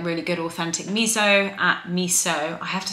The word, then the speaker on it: miso: And like really good authentic miso at miso. I have to stop saying miso. It's been a really, really bad habit of mine. I just keep doing it. It's miso, not miso.